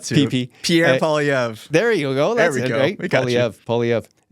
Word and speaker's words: Poilievre: We talked about the conservative leaders' challenges and the situation, and I still can't pronounce his name. He's trying not to. PP. Pierre Poilievre.